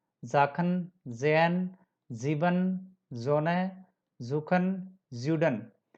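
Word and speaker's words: Sachen: यहाँ आप सबका साउंड, ये सबका साउंड में एस का जय प्रोनाउंस हो रहा है. जाखन, जैन, जीबन, जोने, जूखन, ज्यूडन.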